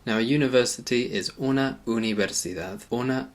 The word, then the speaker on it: universidad: First of all, the U sound. In English we say university, we say the U a bit like U. In Spanish it's more of a U sound.